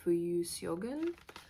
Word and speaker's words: Fuyu: I got the Asagal and the Fuyu. That's how you pronounce it.